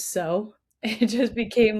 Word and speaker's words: Tso: So, you so And how funny is it that our team, once we learned how to actually pronounce Tso and it was so, it just became like part of our entire vernacular.